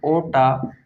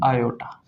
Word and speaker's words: aorta: English में तो ऐसे लिखा जाता है, हिंदी में लिखा जाता है ओटा या फिर आयोटा। इसमें ये आर साइलेंट होता है, याद रखना।